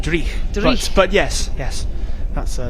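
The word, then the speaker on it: dreich: the national international sports centre a little bit dry as they would say in scotland uh is that correct well it's actually pronounced dre but yes yes that's uh that's what we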